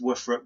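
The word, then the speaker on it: WFRP: and steel our were frappe show it is pronounced woofer up by the way internet just to let you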